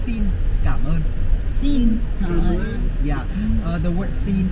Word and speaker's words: xin cảm ơn: Vietnamese will say to each other with three syllables. So we're gonna say xin cảm ơn.